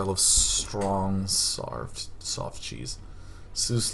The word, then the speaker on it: Seuss: strong soft soft cheese Seuss like noose so like soy Dr